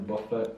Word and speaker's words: Buffett: But like I like this quote from Warren Buffett.